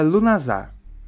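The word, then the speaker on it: Lughnasadh: e você vai encontrar um nome maior cheio de consoantes que se pronuncia lunazar é o Festival da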